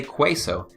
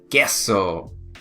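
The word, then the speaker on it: queso: okay qu in that order put together makes a K sound check it out guess so cheese guess so okay don't say quite so say guess so so please be sure that you pronounce it with ake sound guess so alright um here's something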